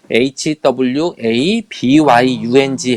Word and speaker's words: 화병: 1994년도 미국 정신의 약해서 홧병 이라고 하는 한국 발음 그대로 hwa byung 해서 홧병 이라고 하는게